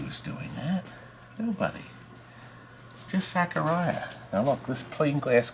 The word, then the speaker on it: Zaccaria: That's what I I pronounced thought it was Zaccaria. You thought wrong. Zaccaria.